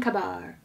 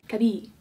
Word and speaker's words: Kabir: And then they also have The Sweet Life of Karan, and probably Karan and Kabar. कबीर, तुम मेरा science project कर दोगी? Kabir, that's how she pronounced it.